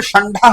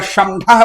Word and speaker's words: षंढा: इसी प्रकार क्षण ढा हम बोलते हैं तो क्षण ढा में षंढा बोलेंगे या शंढा बोलेंगे गलत हो जाएगा उच्चारण उसका। षंढा ऐसा ही उच्चारण है या शंशः नहीं, ढा में हो जाएगा।